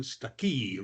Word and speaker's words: Stuckey: I'm Stuckey, rhymes with lucky.